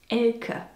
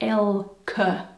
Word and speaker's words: Elke: Anyway, the name is actually pronounced Elke. More like Elke, you see?